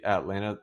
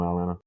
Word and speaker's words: Atlanta: You ever notice when people say Atlanta, it's like Toronto, they don't pronounce the second T really? They like, "Yeah, I'm from Atlanta.